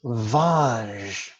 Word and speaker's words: Vaj: This brings us to the next syllable, Vaj, which kind of sounds like the nickname for Roger, which is Raj.